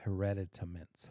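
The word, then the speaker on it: hereditaments: to it and it's called hereditamins I read it I have to count every time five syllables hereditamins so we had two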